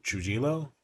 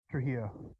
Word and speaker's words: Trujillo: They pronounce his name Trujillo. Trujillo.